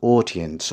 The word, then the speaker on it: audience: it is a standard British pronunciation and the pronunciation is odience audience as in four o audience and the